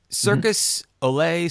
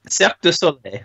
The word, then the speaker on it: Cirque du Soleil: I'm gonna pronounce this incorrectly. Circus Olay, Circus de Soleil. Cirque du Soleil. Whoa, that's way further away than I would have ever gotten it.